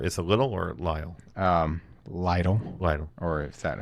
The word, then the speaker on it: Lytle: Lytle. Lytle. Or is that how you choose to pronounce it?